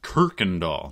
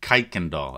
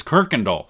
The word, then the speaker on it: Kuykendall: got seven things to share Roy's name is pronounced Kirkendall not kaikendahl I said kaikendahl in my first video but it's Kirkendall sorry I've never seen a real original MK